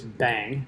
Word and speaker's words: bang: And read data from a website is the bash command, and the exclamation, by the way, is referred to as bang. That's how you pronounce it.